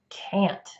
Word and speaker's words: can't: you can go or you can't go can can't there you have it that is the different ways you pronounce can versus can't in sentences hopefully you